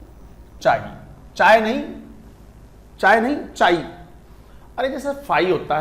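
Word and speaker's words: chi: इज़ रेड एज चाई चाय नहीं चाय नहीं चाई अरे जैसे फाई होता है स होता है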